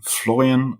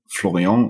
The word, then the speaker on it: Florian: your name sure like it's floran C if you want to be super correct about the pronunciation in German floran or floron in French is also perfectly fine is there a nickname